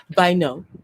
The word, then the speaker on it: Bynoe: a lot of amazing people, just like Tiffany, Bynoe.